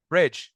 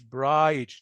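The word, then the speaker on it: bridge: هنا الاي تتنطق شورت ساوند، فتبقى بريدج، فاج، مش برايج نو.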